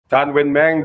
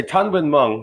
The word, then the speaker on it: Tanwin Mung: Tanwin Mang does get the chat. I should say Tanwin Mung. That's the correct way of pronouncing his name.